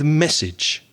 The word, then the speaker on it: message: before we begin is don't confuse the word massage m a double s a g e with message m e double s a g e the vowel sounds are very different massage is originally from the french word massage and message the second vowel sound is e message is something you